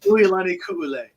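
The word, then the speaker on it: Uilani Kuʻule: Yeah, it's pronounced Uilani Ku'ule. She's actually Hawaiian, and they taught me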